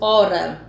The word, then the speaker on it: hora: Então, isso já diminui o número de fonemas, No caso, hora. Ora, você não pronuncia o H, você pronuncia apenas o O-ra, O-R-A, certo?